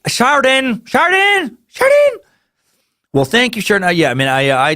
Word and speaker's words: Sheridan: And I love how you wrote pronounced like burden. Thank you, Sheridan. Because if you didn't write that, I would have been Sheridan.